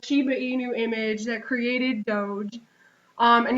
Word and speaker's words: doge: I'm going with the doge meme and I actually did look up how to pronounce this and it is Doge um and it's basically